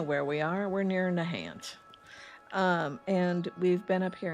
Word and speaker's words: Nahant: Oh, so we must be near Nahant. Diagnostic complete. Nahant. My bad. Gotta say it like a proper East Coast gal. Let's go over to Nahant, shall we?